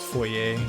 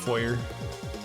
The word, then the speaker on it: foyer: I learned very late in life that it's pronounced foyer and not foyer. I will admit though, it's a lot more fun to say foyer.